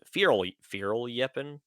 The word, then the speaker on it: Fierljeppen: It's Dutch, so I tried to pronounce it Fierljeppen because the J probably Fierljeppen? makes a yeah sound, I would think.